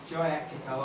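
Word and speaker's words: Kyaiktiyo: way to Golden Rock, Jayactico. I'm sure by my daughter that where it says KY, you pronounce it J.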